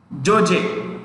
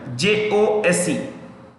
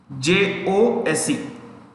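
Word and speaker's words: José: you write i would simply say head head joje i'll spell j o s e j o s e it's actually pronounced jose say that j in spanish pasha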